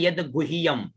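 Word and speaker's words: यद्गुह्यम्: अब यहाँ पर थोड़ा सा आपको उच्चारण में दिक्कत हो सकता है, ठीक है ना। तो ये यह द आधा है, यहाँ पर गु है के अंदर यह है और ऊपर जो है बिंदी लगी हुई है।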